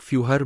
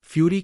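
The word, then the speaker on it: Führer: की यात्रा के बाद जिसका शीर्षक फूहर ब्रूनो आमतौर पर फ्यूरी के रूप में गलत उच्चारण करता है ब्रूनो के पिता राल्फ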